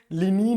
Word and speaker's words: linen: इसको बोला जाता है बच्चों लिनीन बोला जाता है, इसका प्रोनाउंसिएशन लिनीन होता है।